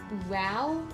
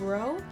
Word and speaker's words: row: T in this case it's like a like row instead of row cuz it's like my